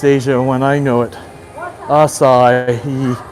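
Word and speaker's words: açaí: Asai. Asai. Thank you. Asai. Yes. Thank you. Asai. Three. Three syllables.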